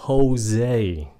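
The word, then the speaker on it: José: epy Thành Phố San Jose cái chữ này là của ng người Spanish là Tây Ban Nha cái âm J của nó phát âm rằng là âm h âm h s Jose h pinho pepper chữ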